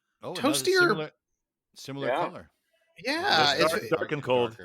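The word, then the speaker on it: Darken Kold: of the beer is dark and cold spelled like as if it were a German word d a r ke n k o l d uh you can't quite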